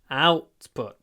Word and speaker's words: output: output declined last year output the stress is on the first part of the word output output what other the